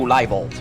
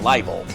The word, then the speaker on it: Liebold: version of the game, the pronunciation of Liebold's name suddenly changed from Liebold to Leibold. He was called Liebold in the previous game, and now he's suddenly called Leibold. In the German version, it is always Liebold. Which is, when you know the German pronunciation rules a little, only something that makes sense.